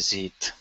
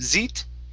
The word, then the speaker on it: seat: And this is seat instead of zeet. Okay, give me an unvoiced S.